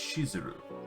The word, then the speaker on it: Shizuru: them warn me that the name of the Goddess is actually spelled and pronounced shizuru or the misspelling it